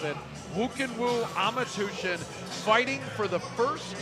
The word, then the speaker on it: Khuukhenkhuu: You see the Mongolian flag being held up as Khuukhenkhuu Amartuvshin. Say that 3 times fast. That one is a tongue twister. Doesn't look like Khuukhenkhuu at all, but that's how you pronounce it. Khuukhenkhuu Amartuvshin fighting for the first time ever in